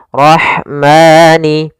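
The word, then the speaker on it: الرحمن: kholqirahman kemudian di sini ada alif lam syamsiah kembali alif lam yang ditulis tapi tidak dibaca langsung ke huruf ro yang bertasdid dan RO di sini ro tafkim rnya harus dibaca dengan tebal ro ro tafkhim ro tebal kemudian pada lafal Rah ada huruf ha yang memiliki sifat Hamas yaitu harus ada jaranun nafas harus ada mengalirnya nafas kita Rah Rahmani kemudian padafal Ma Di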